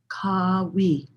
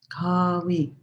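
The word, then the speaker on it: Qawi: And the word is Kawi. Kawi. It's spelled or transliterated Q-A-W-I, but you could think of it almost like, K-A-W-E-E, Kawi.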